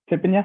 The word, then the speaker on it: Thippanya: We're honored to have with us Senior Thippanya. And did I pronounce that right, brother? That is correct. Thippanya.